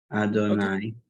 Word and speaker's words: Adonai: When articulating the name Yud Hey Vav Hey, one should have in mind the meaning of the name as it is pronounced, Adonai, that he is Lord